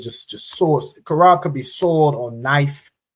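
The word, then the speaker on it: חרב: say sword in Hebrew the Hebrew word for sword is kab all right I'm uh c h a r a b that's how you say sword kab all right if you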